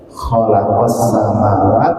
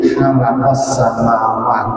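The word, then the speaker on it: خلق السماوات: Mengucapkan ha keliru kho itu sudah berubah. Khalaqas samawat keliru halaqas samawat, nah itu sudah berubah.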